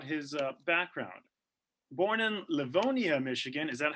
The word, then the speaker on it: Livonia: little bit about his uh background born in livonia michigan is that how you say it father